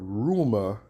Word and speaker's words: rumore: show you in the Italian Italian the word rumor is pronounced rumor rumor right and it means what